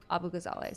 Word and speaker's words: Abu Ghazaleh: So like, it's pretty phonetic, but it looks kind of scary. I didn't learn Arabic as a kid because it's post 9/11 Texas, and that's just not a great idea sometimes. Although being bilingual would be cool, at least for Arabic. Yeah, but Abu Ghazaleh is how I and my family pronounce it.